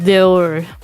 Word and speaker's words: Dior: It's pronounced Dior. Dior. Like hors d'oeuvres.